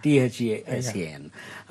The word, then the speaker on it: Dasan: You call it, we call Dasan and you pronounce it as Dasan. Yeah. THASAN.